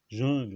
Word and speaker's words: jungle: Par exemple, l'emprunt à l'iranien Jungle, écrit jungle en anglais, mais ça se prononce jungle en français, c'est ridicule, parce que le U est prononcé comme E, quoi.